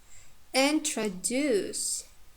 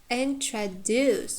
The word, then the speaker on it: introduce: Or introduce, again the same, we have schwa sound in the second one, and the last one is long.